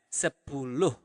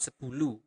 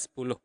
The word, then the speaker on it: sepuluh: Also, for 10, you pronounce the H at the end of the word. So you really pronounce it as sepuluh. Okay? Not sepuluh, but sepuluh.